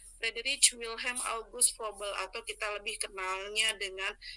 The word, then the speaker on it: Froebel: Froebel berpendapat bahwa tahun-tahun Froebel ya Bu, dibacanya Froebel, tidak perlu dibaca Froebel.